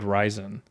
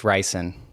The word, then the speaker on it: ricin: president Trump with homemade ryzen which I think I don't know if that's how it's pronounced are you sure you haven't watched Breaking Bad suck my dick it's ricin ah they might pronounce it